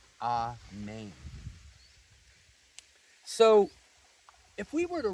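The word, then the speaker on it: ἀμήν: Some people might even say amen. But in Greek, this is actually pronounced amen. The emphasis is on the second part of the word.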